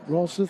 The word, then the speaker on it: Rolseth: That's Gunnar Rolseth. Is that how you say it? Rolseth?